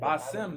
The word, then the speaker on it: Bassem: Bassem, that's how you pronounce his name. My bad for mispronouncing. Bassem.